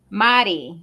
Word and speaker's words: Mari: I want to say Mari, right? Mari. Am I saying it right? Mari. Mari. All right. So, yeah. So Dr. Mari Moreno. I'm not saying Marie no more. It's Mari. Is Madi, and I'll work on those R's.